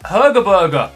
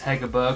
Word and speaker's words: Hegerberg: in the second pack Striker Herberger obviously not how you say her name I know that it's hegerberg I'm pretty sure but oh a double